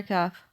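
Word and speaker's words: كاف: letter kaph looks like it's pronounced cuff that's its name and the sound it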